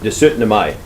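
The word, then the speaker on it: 17. mai: It's pronounced De 17 Mai.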